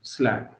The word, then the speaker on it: slag: SLAG है, यहाँ ई लिखा गया गलती से, SLAG है, स्पेलिंग समझ लेना, SLAG, स्लैग, ठीक है ना, SLAG।